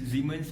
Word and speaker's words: Siemens: Okay, why the spelling is Siemens, but the pronunciation is Siemens because Siemens is a company that originated from Germany, and that's how they say it.